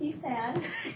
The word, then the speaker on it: Isan: Yeah, it's Isan. Okay, thank you. It's okay. There's been a variety of ways that my name can be pronounced. So, I mean, I accept anything that sounds mildly similar.